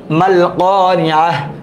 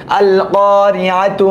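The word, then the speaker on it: القارعة: হার উচ্চারণ হয় নাই, তাহলে তার উচ্চারণ হয়েছে আল কারিআহ, থেমে গেলে হার উচ্চারণ, মাল কারিআহ থেমে গেলে হার উচ্চারণ, মিলায় পড়লে তার উচ্চারণ আল কারিআতু, মাল কারিআতু ওয়া মা।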